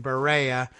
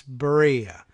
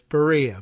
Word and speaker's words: Berea: pronunciation I was saying Berea College ber EI Barea you know no its Berea like although somebody gave me a pronunciation guide a handy pronunciation guide like diarrhea they said it's Berea but unfair comparison to